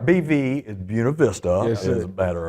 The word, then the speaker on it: Buena Vista: So- Real pronunciation, Buena Vista.